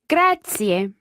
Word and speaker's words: grazie: you an Italian gratia gratia and remember those three syllables there they're all run together quickly but there are three syllables gratia gratia gratia that